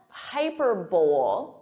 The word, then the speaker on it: hyperbole: So listen to that syllable stress.